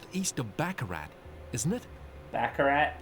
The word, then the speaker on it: Baccarat: of baccarat isn't it baccarat that's how you say it i wish i knew